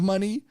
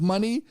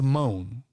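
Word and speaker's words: Moné: it's Mercedes, MONE apostrophe, which I'm assuming is Mercedes money, but it looks a lot at first glance like I was pronouncing this all morning, Mercedes moan.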